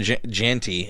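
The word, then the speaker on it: Jeanty: favorite well I think Austin janty as I actually think it's pronounced still probably leading but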